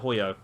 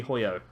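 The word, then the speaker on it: Hojo: yeah that was it hoyo the j is pronounced as a y so it's kyrie hoyo uh but i don't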